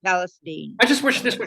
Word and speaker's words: Palestine: Yes, they pronounce it Palestine.